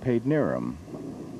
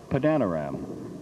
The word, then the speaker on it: Padanaram: area, there is a suburb which is called Paidnerum. That's how we pronounce it, how the people there pronounce it. But the way it's spelled, as one young announcer on the station I worked in that time said, Padanaram.